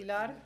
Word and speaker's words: Pilar: Pilar from Energy Son, let me pronounce it correctly. Pilar.